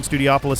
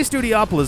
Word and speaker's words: Studiopolis: I feel like a lot of people say Studiopolis, but if you'll recall, in Sonic Adventure, there's a level that takes place in a casino-like setting that is spelled in a similar way. So here we've got Studio and Opolis, a suffix that has been used in a few zones in the Sonic franchise.